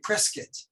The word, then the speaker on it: Prescott: and by the way, in England, they call me Prescott. That's the pronunciation.